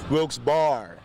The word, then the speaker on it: Wilkes-Barre: names separated by a hyphen sounds simple right wilkes bar do you ever hear anybody say it different all the time what do they say brooks berry but the correct way is wilkes bar barn with two r's looks better looks better